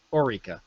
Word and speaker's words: Orica: I'm pronouncing this correctly it's kind of like Eureka except Orica right that's what she said